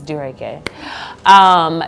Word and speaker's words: Dureke: People say it wrong, it's Dureke.